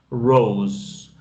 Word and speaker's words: rose: Rose. Normalmente esta E al final no se pronuncia.